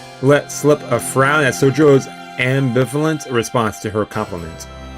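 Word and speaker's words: 宗十郎: Sojiro, though. Okay, I guess the Y's are silent.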